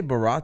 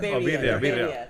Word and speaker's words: birria: what did you say, Barra tacos? Like the birria? birria.